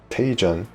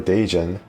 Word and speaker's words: Daejeon: I think the Koreans changed how to pronounce their city names. Specifically, they changed all the P sounds to B sound, and then the T sounds to D sounds, I find.